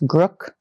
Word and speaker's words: Grk: how to pronounce but it's spelled G R K. I think it's Grrook.